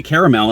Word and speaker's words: caramel: reviews or their talk, they say caramel. And when I look at it, it's like, it does like C-A-R-A, cara, not caramel, like 2 syllables. It looks like 3 syllables, caramel.